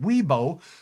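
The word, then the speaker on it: Wibaux: Mid60s in the valley near 70 at the Montana border including Glendive and Ybox. Otherwise pronounced Weibo.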